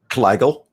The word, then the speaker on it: Kleigel: How do you pronounce her last name? Kleigel. Kleigel.